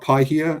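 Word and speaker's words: Paihia: bay of islands yes was i mispronouncing that no no what happened was um a missionary was meeting a uh a maori chief and he said oh it's pi here pi meaning good and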